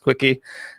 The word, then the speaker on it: CWCki: So the wiki about him, CWCKI, is pronounced quickie.